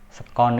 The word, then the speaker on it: sekon: Nah, ini sekon ini istilah lain dari detik ya, bukan second ya, bacanya Inggrisnya mungkin second, bukan second bekas, bukan, tapi sekon, detik.